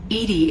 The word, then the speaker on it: EDI: Edie is the phonetic pronunciation of E-D-I.